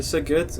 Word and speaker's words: Szeged: Ça se prononce comment? C'est quoi? Szeged. Ok, Szeged, voilà.